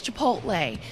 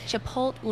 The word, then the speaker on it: Chipotle: It's Chipotle. Chipotle.